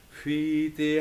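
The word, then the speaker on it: whiti: And then WH is pronounced f, or a soft f in Maori. Fiti hatu koe hine, marina ana e.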